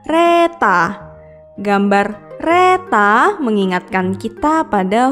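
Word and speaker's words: レター: Berikutnya adalah gambar dengan tulisan letter atau dalam pelafalan bahasa Jepang adalah reta.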